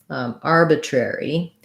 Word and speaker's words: arbitrary: e sound so um first syllable stress and i would work from the air syllable so trying just saying air airy rari cherry arbitrary building from this air in the back that's probably the most